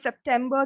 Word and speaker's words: September: Again, we have ER in the end. So it's not bar. September.